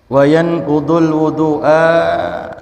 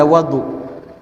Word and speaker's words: wudu: Ada wudu, ada wadu. Kalau di sini dibacanya bidammil wawi. Wawunya kita baca dhammah. Artinya pekerjaan berwudu. Kalau kita baca wawunya fathah bi fathil wawi wadu, itu artinya air yang dipersiapkan untuk berwudu.